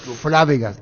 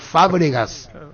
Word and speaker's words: Fábregas: llama uno me dice no se dice fábregas es fábregas y después tomamos la